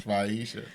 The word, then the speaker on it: Fatisha: The T is silent. Yes. Is that what you're telling me? Yes, Faisha. Faisha. Niram give everybody a special name, so you are now Faisha. No T. Silent T.